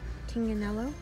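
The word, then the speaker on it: Tignanello: and over here we've got a rampage a Ting Canelo tinganello that's how you pronounce it I looked it up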